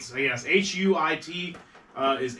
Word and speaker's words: huit: Zach, it's pronounced huit 4987. for 8. So yes, Huit is 8 in French.